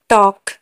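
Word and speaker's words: talk: टॉक, TAL के, टॉक, के आगे एल है तो एल साइलेंट होगा। स्टॉक, वॉक, चौक, यॉक, फॉक,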